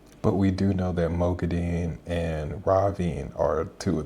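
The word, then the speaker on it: Moghedien: because in the audiobook, there's 2 different ways that Kate Redding and Michael Kramer say Mogadin. Originally, when they're saying the character, they say Mogadin. And then I think Kate Redding is the first one that changes and she starts to say Mogadin. And Michael Kramer continues to say Mogadin. And then they both start to say Mogadin at some point, so.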